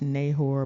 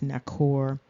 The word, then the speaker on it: Nahor: children of Abraham's brother it looks like it's pronounced nahor but it's nakor it's very interesting how